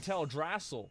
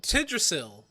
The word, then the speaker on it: Teldrassil: souls that died in Teldrassil? Does that mean that she caused Teldrassil to happen? Like, I'm so confused about this. Wait, what? What happened with Tidrasil? I know he's saying it wrong.